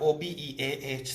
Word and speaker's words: Obeah: So you have O-B-E-A-H, so they call it Obeah. The H silent as far as I'm concerned.